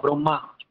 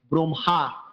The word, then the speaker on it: ব্রহ্মা: ম হয় ম হলেও আমরা উচ্চারণ করার সময় হটা পরে করব।